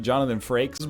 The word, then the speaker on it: Jonathan Frakes: I love the video of Jonathan Frakes. That's how it's pronounced, Jonathan Frakes, but it's just the clip of him asking all those rhetorical questions.